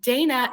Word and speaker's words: Daynah: And then Daynah, am I pronouncing your name correctly? How do you pronounce Yes. it? Daynah, okay. No, yes, Daynah is correct. And it's spelled beautifully phonetically, so that's Thank perfect.